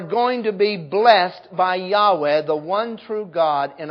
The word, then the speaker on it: Yahweh: The song pronounced it Jehovah. An old pronunciation. Now we know it's supposed to be Yahweh. Praise be to Jehovah. Praise be to Yahweh.